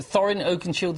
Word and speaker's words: Thorin Oakenshield: You playing Thorin, is it Thorin Oakenshield is the correct way to pronounce it? Thorin Oakenshield.